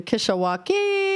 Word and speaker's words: Kishwaukee: You mispronounced it. The Kishwaukee there you go.